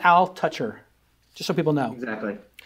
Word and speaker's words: Altucher: is J aler and it's pronounced Al toucher just so people know